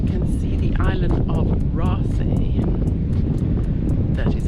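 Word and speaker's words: Raasay: So, the view from here, you can see the island of Rasi.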